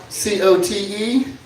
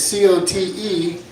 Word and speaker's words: Cote: It's C-O-T-E, but they know it's Cote. They know it ain't Cote.